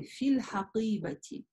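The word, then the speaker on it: في الحقيبة: Мы видим здесь букву «фа» и «я». То есть, по сути, это читается как долгий «и». «Фи». И затем «аль хакиба» «хамзатль-васль» не читаем, читаем «л», как бы, да, с артикля. Получается «ль хакиба».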